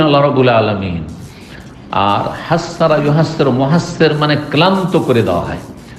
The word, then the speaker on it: মহাসর: জায়গাটির নাম হচ্ছে ওয়াদি মহাসর শুদ্ধ উচ্চারণ হচ্ছে মহাসর অনেকে ভুল পড় মহাসার বলেছেন মহাদিয়ে মহা মহাস